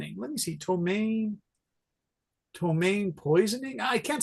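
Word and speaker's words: ptomaine: from tomain t o m a i n tomain or uh not domain it's tomain I can never spell this right you guys tomain tomain poison in let me see tomain tomain poisoning I can't spell it right it's pronounced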